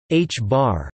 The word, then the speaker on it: ħ: Spin can be represented by a vector whose length is measured in units of the reduced Planck constant h, pronounced h-bar.